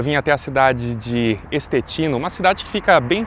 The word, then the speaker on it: Estetino: Mas a gente vai então de pronúncia em português estetino.